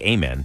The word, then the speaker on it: Amen: 20 year old guard a man Thompson it's spelled like amen but it's Amen and he completed uh